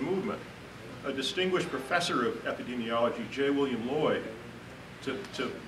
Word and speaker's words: epidemiology: President of the Union never could pronounce the word epidemiology he always called it epidermiology it's actually quite funny